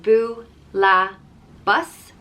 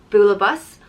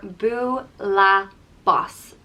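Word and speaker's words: bualadh bos: hands and it's pronounced boo la bus bula bus or buu la bas bula boss and that just depends on where in ireland you are a teacher in school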